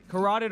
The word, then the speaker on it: carotid: because with the, I always say this wrong, carotid artery.